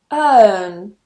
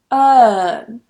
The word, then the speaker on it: earn: For example, earn, earn. What a lot of students tend to do is they get influenced by the spelling and they try and pronounce the R.